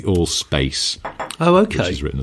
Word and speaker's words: Allspace: Allspice? Old Spice? I was going to say Allspice, and I thought, no, I'll say it properly, but then I stumbled between. It's called the Allspace.